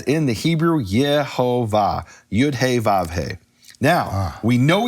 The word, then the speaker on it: Yehovah: Now, in English, people call that Jehovah, but in the Latin, it's actually pronounced Yehovah, and later Latin, it would be Yehovah.